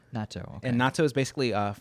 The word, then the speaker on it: natto: So this is something called natto. Natto. Okay. And natto is basically fermented. Not natto. Not natto. But is it spelled the same?